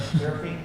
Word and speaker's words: Seraphine: And Seraphine, did I pronounce it correctly?